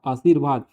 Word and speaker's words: आशीर्वाद: र का उच्चारण फिरवाद आशीर्वाद यहां क्या हो रहा है देखो आ उसके बाद आ के बाद आधा र का उच्चारण हो गया आरसीवाद हो रहा है तो यहां आशीर्वाद